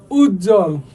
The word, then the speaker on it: উজ্জ্বল: উজ্জ্বল, ভাই ওয়ার ইজ দ্য ব, কোথাও নাই, কিন্তু ঠিকই কিন্তু বানানের ক্ষেত্রে আমার লিখতে হয়েছে।